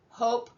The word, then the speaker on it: hope: Hop, hope, cut, cute.